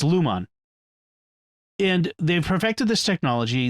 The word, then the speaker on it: Lumon: in this company lumos it sounds like lumos which is the harry potter spell it's lumon and they've perfected this